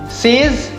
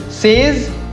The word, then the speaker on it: says: Says. Says नहीं, इसको कहते हैं says.